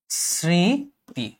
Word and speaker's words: স্মৃতি: এটার উচ্চারণ এরকম না এই স্মৃতি শব্দটার উচ্চারণ হবে হচ্ছে শ্রীতি তুমি শুধু শ্রী লেখার